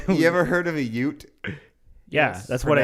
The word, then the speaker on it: Ute: by a mixture of Mormon settlers and native UT tribesmen. Of course, Mormons. What did I say? UT. Okay, it's the same thing. You ever heard of a Ute?